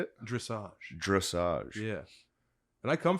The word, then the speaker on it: dressage: Dressage.